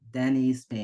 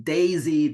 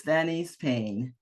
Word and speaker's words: Danise Payne: And yes, you did say my name right, Denise Payne. I've heard different kinds of things from Daisy to Denise. But anyway, no, it's Denise Payne.